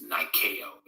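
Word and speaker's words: Νίκη: the goddess Nike yes Niko is the way it's pronounced in Greek it's the swish symbol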